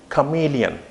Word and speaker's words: chameleon: Here you have to give the stress on CH. Chameleon. This is how this is actually the syllable. There are 3 syllables, chameleon, chameleon. Okay, the 3 syllables are there, chameleon.